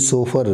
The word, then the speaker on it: chauffeur: Word आ सकता है, CHAUFFEUR, तो सोफर इसको जो है इसका प्रोनाउंसिएशन भी सोफर, देखिए कितना खास जो है प्रोनाउंसिएशन है।